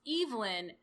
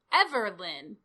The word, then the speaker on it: Evelyn: somebody who was like, I've heard it pronounced Evelyn and Everlyn. Everlyn. No. Try again. And everyone else in, like, the thread was like, I've never heard Everlyn?